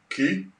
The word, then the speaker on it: Qi: in the word so Q I would be spelt would be pronounced ki T oh yeah that makes